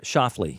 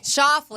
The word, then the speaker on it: Schauffele: Alexander Schauffele. Shoffley.